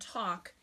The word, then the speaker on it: talk: dictate half walk and talk in l1 okay so all of these words have silent letters so how do we dictate when she says the L seem silent yay it is Vanessa